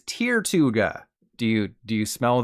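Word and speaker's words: Tirtouga: Pirates of the Caribbean I've always said Tortuga but when I found out I was wrong I began to cry which was a good thing because the true pronunciation is tirtuga do you do you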